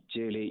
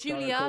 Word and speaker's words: Julia: same logic josh no julie you're trying to say my name's julia not julie by the way sorry